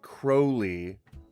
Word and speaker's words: Crowley: Basically, you One thing though is that Crowley should actually be pronounced Crowley. In his own words, the confessions of Alistister Crowley, he writes that his name rhymes with holy.